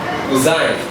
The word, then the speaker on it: cuisine: When you look at the word C-U-I-S-I-N-E, the pronunciation may be difficult because some people may call it cuisine, but then the right pronunciation is cuisine.